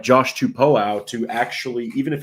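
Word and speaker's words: Tupou: So, we do have the official pronunciation there, Josh Tupo.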